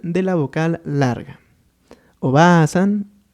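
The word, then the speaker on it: おばあさん: Y bueno, nuestro segundo ejemplo es este, en el cual nos vamos a enfocar a la pronunciación. Primero tendríamos aquí a Oba-san, que es abuela, y acá tendríamos a Oba-san, que es tía.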